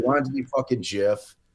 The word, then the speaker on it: GIF: I was like GIF, like the peanut butter.